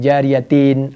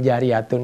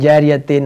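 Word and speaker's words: جارية: Orang di situ illa min salasin bisa dibaca shadaqatun jariyatun. Dari mana itu? Ketahuan kalau nggak pernah ngaji itu orang. Illa min thalathin shadaqatin jariyatin aw ilmin yuntafa'u bi aw waladin salihin yad'ulah.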